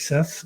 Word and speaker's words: Seth: So I'm Seth, and interestingly, the last name is pronounced Seth, and it rhymes with innovate because it's an Indian name.